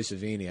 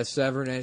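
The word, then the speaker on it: Sevigny: Adam corrected me on that and I was pissed off. Because I always thought it was Chloe Savini. I guess Severnay, it's like maybe? Yeah, Severnay.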